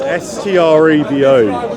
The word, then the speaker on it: Strabo: You're going to have to spell that for me. It's S-T-R-A-B-O.